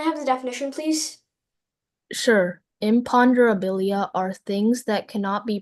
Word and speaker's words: imponderabilia: Your word is imponderabilia. Imponderabilia. Can you put your hands up? Imponderabilia. Imponderabilia. Imponderabilia. Imponderabilia. Imperabilia. Uh, can I have the definition, please? Sure. Imponderabilia are things that cannot be precisely weighed, measured,